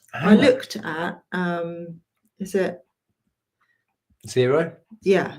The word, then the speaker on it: Xero: I looked at, is it Xero? Yeah, Xero. I was trying to think how to pronounce that.